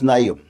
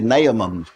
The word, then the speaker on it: Naaman: the syrian army and his name was naom or some people say naaman but if i get to say it like that it comes out named my mama so i just say name and it makes it stop but he was he